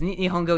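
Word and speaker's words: 日本語: nihon go is limited is nihongo even how you say it okay it is nihongo good at least i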